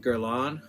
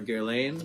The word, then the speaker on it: Guerlain: It is by the House of Guerlain, or Guerlain, depending on how you pronounce it.